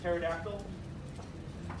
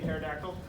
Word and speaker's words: pterodactyl: The P is silent, like pterodactyl. P in pterodactyl.